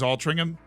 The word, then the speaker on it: Altrincham: So the way you actually say it is Altrincham? Okay.